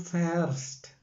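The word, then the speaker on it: fährst: ഇഹ് ഫാറെ, ദു വരുമ്പോൾ ഉച്ചാരണം ശ്രദ്ധിക്കുക, ദു ഫേർസ്റ്റ്. ഇഹ് ഫാറെ, ദു ഫേർസ്റ്റ്.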